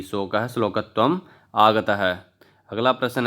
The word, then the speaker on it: शोकः: शोकः श्लोकत्वम् आगतः, ये प्रश्न शुद्ध उच्चारण हुआ।